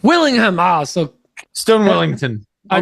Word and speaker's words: Willingham: it even so and your stone is it wellingham Willingham Willingham ah so Stone Wellington